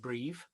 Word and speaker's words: Briiv: and to spell it it's b b-r-i-i-v but said breathe as you breathe presumably um so what